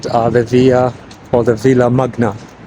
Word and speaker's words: Villa Magna: the Villa or the Villa Magna, if you pronounce it in English, but in Spanish it's Villa Magna.